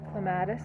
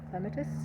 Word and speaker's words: clematis: to be cleaned out a clematis or clematis however you want to pronounce it is actually coming up